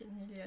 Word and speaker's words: Niléa: D'ailleurs, comment on prononce ton pseudo ? Nilea, Nil, Nile, je sais pas, nésite pas à me le dire parce que j'ai pas envie de le prononcer n'importe comment. Ah ouais, moi je me rappelle pas de mon premier cinéma mais je pense que c'était petit parce que enfant Niléa. OK Niléa nickel ça c'est pas c'est